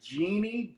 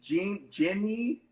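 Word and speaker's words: djinn: The gin, or is it like genie? Ginny? Gene? It's gin, just gin.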